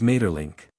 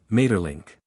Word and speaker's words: Maeterlinck: him his name is Mater link crawl pronounced the first syllable German fashion Ma you understand Mater link now show him that